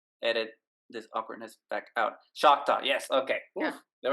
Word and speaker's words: Choctaw: Choctaw. Yes. Okay. Yeah. Oof, there we go. The I said it Choctaw right.